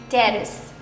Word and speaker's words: terrace: Terrace. Terrace. One more time. Terrace. It's related to like our It's business. related to villas and Okay, say again. terrace. Make it into syllables. Tear Sorry. and rest. Terrace.